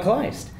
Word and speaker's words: Kleist: We have Jason Rose, and we've got Dylan Von Kleist, or Kleist, or however you want to pronounce it, which is Kleist. the right way.